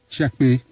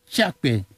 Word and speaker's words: Tchiakpé: En fait, quelle est la réelle prononciation de votre nom? Tchekpe. Tchekpe.